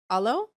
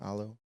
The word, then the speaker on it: Alo: Alo. Yeah. Alo.